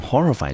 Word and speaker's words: horrify: horrify，好，我们看看这个字的音节。来，第一个音节在 h o，我们就念成 ho 的音。接下来是 r r i，我们念成 r。最后一个 f y，我们就念成 fi。中音节我们落在第一个音节，这个字我们就念成 horrify。horrify。那在讲 horrify 这个字之前呢，Andy 呢要先来跟各位呢补充一个字。好，那个字呢就是它的名词，念成 horror。那 horror 这个字呢，它是一个名词，我们中文呢就把它翻成所谓的害怕，或者是所谓的恐惧，或者是恐怖。好，我们呢英文就念成 horror。horror。